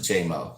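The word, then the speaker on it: Jaymo: You pronounce it J-Mo, just like J.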